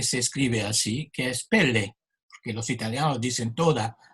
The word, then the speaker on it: pelle: En italiano hay también una palabra que se escribe así, que es pelle, porque los italianos dicen toda la sílaba, ¿no? Los franceses la llaman pelle, no se escucha la E final.